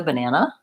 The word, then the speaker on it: banana: Sounds like So my first syllable is ba. It's not ba or be or ba or any of those other things that letter A can say. So ba, short.